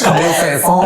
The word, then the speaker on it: Camille Saint-Saëns: If you pronounce it in French, Camille Saint-Saëns.